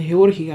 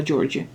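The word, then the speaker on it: Georgie: перевірила вимову Так що не Георгій а джорджі отже котре речення означає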